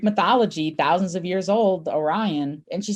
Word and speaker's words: Orion: And I said, it's Orion. I said, it's just like the constellation.